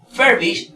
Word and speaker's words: furbish: Ahora bien, esta palabra, por ejemplo, si nosotros vemos aquí, furbish realmente es un verbo y lleva su mayor fuerza de voz en la primera sílaba.